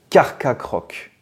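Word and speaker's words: Carchacrok: doit le prononcer enfin il devrait être prononcé carc croc ah c'est dur à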